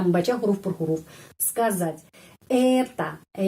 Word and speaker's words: это: Это penekanannya di sini ya, pada huruf E. Это. Karena itu O ini dibaca A.